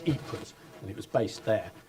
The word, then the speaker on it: Ypres: There was a trench newspaper called the Wipers Times, called Wipers because the British troops couldn't pronounce Ypres, and it was based there.